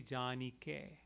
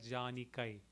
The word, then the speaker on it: जानिके: तनु जानिके बुद्धिहीन तनु janike. Again K-A-I, in Sanskrit we would say janikai. Here it would be janike. It's like a in air, A-I-R, a, janike.